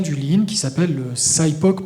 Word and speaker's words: SIPOC: Lean qui s'appelle le SIPOC, prononcé à à l'anglaise, où on peut dire SIPOC, veut dire Suppliers, Inputs, Processes, Outputs and Customers.